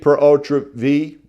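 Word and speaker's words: pur autre vie: Y'all, you could have an estate per ultra V. Y'all, again, that's how we pronounce it in South Carolina. Y'all want to pronounce it some other way if you live somewhere else, then God bless you.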